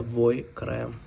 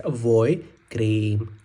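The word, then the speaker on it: vajkrém: Знаєте, в Угорщині це називається войкрем. Буква А дає нам букву О, а якщо на букві А іде із рисочку, то буде А. А так читається voi cream.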